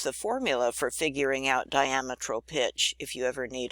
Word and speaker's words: diametral: tooth size is called diametral pitch and I have a note at the bottom here the way we pronounce it it's like the word diameter with an Al L